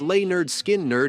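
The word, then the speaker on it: Lynyrd Skynyrd: mocking their gimm teacher their 1973 debut album pronounced lay nerd skin nerd introduced the band's Blues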